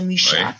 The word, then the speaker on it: Mucha: Et là, j'aimerais bien rappeler le nom Alphonse Mucha, ça se prononce en français Mucha, Mucha en tchèque, qui est sûrement connu aussi pour les Français, pour tous les Français.